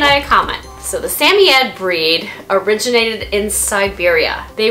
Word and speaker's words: Samoyed: Some of the ways of pronouncing their name, Samoyed. Samoyed, which is how I pronounce the name. Samoyed, Samoyed, Samoyed, Samoyed.